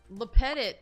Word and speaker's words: Lepetit: to the summer Chalet lepetit I think is the most common way to pronounce my last name some people who don't